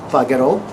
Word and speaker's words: pagherò: Now for pagare, we need to maintain the hard G sound. So, we would say io pagherò, tu pagherai, lui, lei pagherà, noi pagheremo, voi pagherete, loro pagheranno.